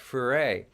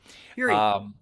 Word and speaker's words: Fure: with people like Tret Fure. Fury. Fury. What? Fury. Fury. Did I say that? Huh? You said it wrong. Fury. Tret Fury.